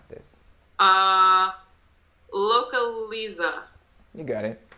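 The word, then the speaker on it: Localiza: avayanes yes right this brand how do you pronounce this uh localisa you got it localisa locally something crazy like loca localisa is a brand of it's a car rental 18.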